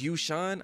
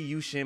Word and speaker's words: Yueshan: in this video is you sean i believe it's how it's pronounced or it could be you shin but i believe it's you sean so we're gonna be